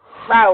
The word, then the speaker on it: Rao: Rao. No, it's just like Rao with an O. R-A-O.